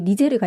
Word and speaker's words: 니제르: 니제르라는 나라도 있고 나이지리아 위에 니제르가 있잖아요. 그러네요. 이 니제르 강을 불어식으로 발음했을 때 니제르 국가명이 된 거고 나이지리아는 이제 영국령이었어요.